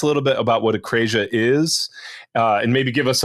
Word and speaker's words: akrasia: So how do you pronounce? Is it akrasia? How do you? Yeah, that'll do. Yeah, akrasia.